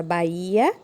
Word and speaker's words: Bahia: Podemos observar que na palavra Bahia temos o acento no I, certo? Então, é uma palavra o quê? Paroxítona, oxítona ou proparoxítona? Ela é uma palavra paroxítona, certo? Pois a sua penúltima sílaba é a sílaba mais forte, tá bem?